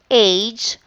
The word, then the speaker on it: age: This one, G here, is pronounced as say the word again, age, but the sounds there is J. We have to omit the E because it's not pronounced.